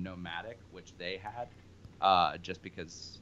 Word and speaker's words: NOMVDIC: I know that on Facebook it's Nomadic, N-O-M-A-D-I-C, although now you are using a different spelling where you've taken that A and flipped it upside down. So now it's N-O-M-V-D-I-C, however still pronounced Nomadic.